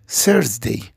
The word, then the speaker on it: Thursday: نلاحظ ان اليو جي وراها R، فاليو تنطق long vowel، حرف من حروف المتحركة، النطق طويل واتجنب نطق الار. طبعا في الامريكان او في بعض اللهجات بيقولها Thursday ويوضحوا الار جدا، لكن في البريتش لا تنطق الار. يبقى Thursday Thursday. Okay.